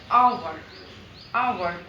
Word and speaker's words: hour: एच इज a consonant, but वी यूज an before आवर because when we pronounce the hour, the H consonant is not pronounced initial, यानी एच का जो